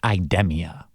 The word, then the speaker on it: Idemia: I got in contact with Lucius Shoemaker, the Senior Vice President of Corporate Relations at Idemia, which is the proper way to pronounce it.